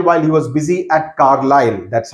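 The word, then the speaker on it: Carlisle: all the while while he was busy at carile that's how it is pronounced carile where he greets the station Master with Elation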